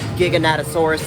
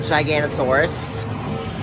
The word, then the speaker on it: Giganotosaurus: Turns out I've been pronouncing Giganotosaurus incorrectly. For the past 30 years, I was calling it Giganosaurus.